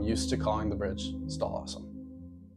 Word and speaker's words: stal̕əw̓asəm: That's why there's an English pronunciation of it. Over time, the name Stall Awesome will seem less daunting,